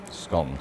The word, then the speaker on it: scone: pronounce it do you say scone or scone scones scones correct so the correct pronunciation is scone and it's not just my